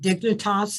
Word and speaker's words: Dignitas: You find this organization in Switzerland called Dignitas, is that the right pronunciation?